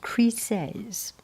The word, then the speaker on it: Chryseis: Okay, I checked dictionary and it pronounced Chryseis.